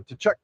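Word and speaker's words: Tkachuk: us who remember the Tachuk, am I saying it right? Tchuck family. Close enough. What's it really? The cat. I think it's Kachchuck. I think Kachchuck to T Silent.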